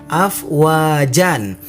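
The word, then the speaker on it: أفواجا: Nah, namun apabila kita berhenti atau kita wakof, maka tidak boleh dibaca afwajan, tetapi kita dibacanya afwaja. Jadi yang awalnya kita dibaca afwajan, karena kita berhenti berubah menjadi afwaja, dibaca panjang.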